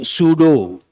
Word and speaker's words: pseudo: Tell me what is the meaning of the prefix pseudo? Pseudo means a false. Please write. Pseudo-intellectual. Write one example. P is silent.